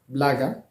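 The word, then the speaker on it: благо: La même règle s'applique sur le second mot, blaga. O n'étant pas porteur de l'accent tonique se prononce A. L'accent tonique se trouve sur la première syllabe, bla.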